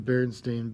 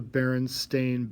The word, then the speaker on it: Berenstain: sense to me because in my family we pronounced it the Berenstain Bears, but yet it was clearly spelled Stein.